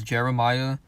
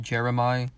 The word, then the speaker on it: Jeremih: And I always thought his name was Jeremiah, but I guess it's pronounced Jeremih.